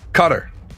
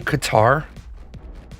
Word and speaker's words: Qatar: Cutter. Do you Do you mean Qatar? No. Everybody calls it Cutter.